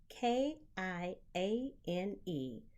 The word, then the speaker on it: Kiane: Now, I know it sounds like the pepper, but it's spelled very differently. Kiane.